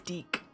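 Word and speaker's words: Dieck: in I think I think in the Japanese name it is dick. Um is it really? I think so. But I think in English it was terrible. It's uh it's Deak.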